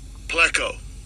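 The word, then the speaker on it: πλέκω: I'll give you a pronunciation of it again. Strong's G4120, pleco.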